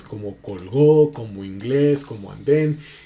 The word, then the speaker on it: inglés: O sea, tiene el acento en la última sílaba, que es inglés, en este caso.